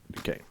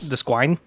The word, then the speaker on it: Duquesne: That's how you pronounce it. Duquesne. Sounds French.